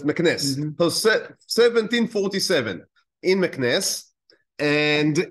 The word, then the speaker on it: Meknes: I heard it pronounced in different ways. I listened to different lectures, so it's interesting. But Meknes, that's Meknes.